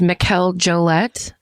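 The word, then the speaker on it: Mikel Jollett: So, I think his name is pronounced Mikel Jolette.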